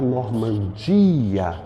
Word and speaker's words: Normandia: é mais forte igualmente a Normandia o di é mais forte Essas palavras são paroxítonas